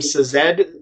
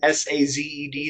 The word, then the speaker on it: Sazed: And it's also very much a character study about Vin and Ellen, and I don't know how to pronounce his name, Sazed, S-A-Z-E-D, Sazed.